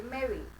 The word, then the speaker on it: मैरी: अब देखिए फिर आप कहेंगे यहाँ तो आ गया, फिर यहाँ तो नहीं आ रहा, तो साइलेंट क्यों नहीं है? बिकॉज ई वाई किसकी आवाज देगा? ई की. एंड ई इज a vowel. Very good. सो आपकी प्रोनाउंसिएशन क्या होगी? It will be मैरी.